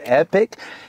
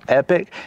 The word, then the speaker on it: Epoch: So, this is the Epoch. It's spelled E P O C H, but I think it's pronounced epic.